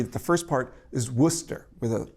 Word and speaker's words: Worcester: sources will agree that the first part is worcester with a o sound. So the first part is worcester.